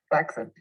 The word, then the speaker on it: flaccid: In fact, what I think I'm seeing is the human equivalent of a flaccid penis. Flaccid. It's actually pronounced flaccid. Not a lot of people know that.